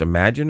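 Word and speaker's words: Imagen: The spelling is different, but the pronunciation stays the same.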